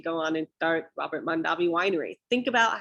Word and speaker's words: Mondavi: already this is where the mondavi or mondevie family as it used to be pronounced when they lived in